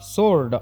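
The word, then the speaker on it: sword: ಸೋರ್ಡ್ ಅಂತ ಹೇಳಿ ಕರೀತೀವಿ ಇಲ್ಲಿ ಡಬ್ಲ್ಯೂ ಸೈಲೆಂಟ್ ಆಗುತ್ತೆ ಇದನ್ನ ಸೋರ್ಡ್ ಅಂತ ಹೇಳಿ ನಾವು ಪ್ರೊನೌನ್ಸ್ ಮಾಡಬೇಕು ಸೋಲ್ಡ್ ಅಂತ ಹೇಳಿ ಆಫ್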